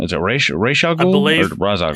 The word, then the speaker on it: Ra's al Ghul: So in the movie they pronounce it Ra's al Ghul, but it's supposed to be pronounced Ra's al Ghul. Ra's al Ghul.